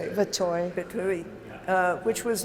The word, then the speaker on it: Verteuil: Verteuil.